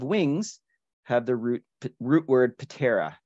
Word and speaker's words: ptera: Most orders of insects, if they have wings, have the root word ptera, terra. P is silent, but it's fun to say.